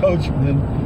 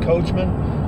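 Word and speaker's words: Coachmen: a coachman CoH Co ACH em en it's pronounced coachman and you want to say ma in but it's m en coachman clipper cadet 16 C FB FB means front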